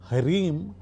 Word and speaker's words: ह्रीं: ह्रीम हा रा ई म ह्रीम क्लीम का ला ई म क्लीम चामुंडाय विच्चे।